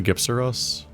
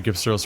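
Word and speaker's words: Gypceros: And maybe Gypsaros will surprise me. I feel like I should stick with the hard G with this dangerous monster name.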